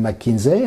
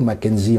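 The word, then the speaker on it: McKinsey: cabinet de conseils comme mckinzer en français ou Mackenzie en anglais on prononce des deux manières qui ont conseillé tous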